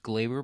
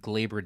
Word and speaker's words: Gleyber: Well, first of all, I think it's pronounced Glaber because John Sterling, whenever he hits a home run, calls it Glaber Day. So I think it's pronounced Glaber, but that's besides the point.